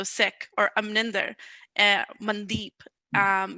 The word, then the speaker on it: Sikh: i see now as my responsibility to educate people and to own what it is as it's supposed to be said so sick or amninder and mandip